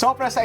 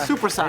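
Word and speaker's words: soppressata: Sopressata. It's not supersata. It's not supersat, it's sopressata.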